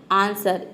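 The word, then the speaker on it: answer: pronounce करते हैं व लेकिन देखिए यहां पे व का आंसर में देखिए व का साउंड कहीं पे भी नहीं आ रहा है मतलब कि डब्लू लेटर साइलेंट है आंसर इसको हम प्रोनाउंस करते हैं आंसर अगर व को यहां प प्रोनाउंस कर देंगे तो ये हो जाएगा आंसर तो व का साउंड नहीं आ रहा है ये होता है आंसर मतलब उत्तर अगला वर्ड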